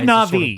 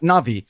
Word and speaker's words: Na'vi: Big say Navi. Sort of okay, yeah. Tall. Yeah, tall, blue. Am I pronouncing that correctly, or is it not? No, not Navi. Navi.